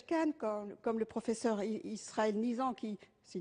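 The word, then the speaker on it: Nisand: Alors j'entends bien de grandes personnalités médicales comme le professeur Axel Kahn, comme le professeur Israël Nizan, c'est Nizan, oui, c'est ça, qui se prononce pour la pénalisation du client.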